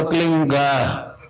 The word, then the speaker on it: क्लीं: की मात्रा और बिंदी, उसका उच्चारण होगा क्लींग। गा की ध्वनि निकलेगी पीछे।